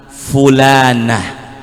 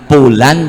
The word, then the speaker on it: fulan: namanya tapi dengan sebutan fulanah kalau laki-laki berarti Fulan di acara haul Saya pernah disodorkan nama-nama almarhum di situ tertulis pulan bin pulan bukan pakai p tapi pakai f bacanya bukan pulan tapi kalau yang nasi lembut